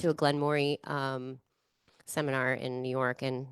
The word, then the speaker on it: Glenmorangie: to a Glenmorangie seminar in New York and learned how to say it correctly. That's the challenge. 'Cause I thought, yeah, Yeah, I didn't know it was Glenmorangie. I thought it was Glen Moray. It actually is Moray because it's French.